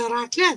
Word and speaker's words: raclette: Yeah, it's like the fondue is the same concept, but it's a raclette, so you fry it instead.